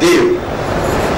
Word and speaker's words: Dieu: French मध्ये मी French शिकलोय, Russian शिकलोय, आणि त्या दोन्ही लँग्वेजेस मध्ये देव म्हणजे देवच आहे. स्पेलिंग वेगळं आहे पण प्रोनाउन्सिएशन तेच. देव फ्रेंच मध्ये गॉड इज इक्वल टू देव म्हणजे DIEU.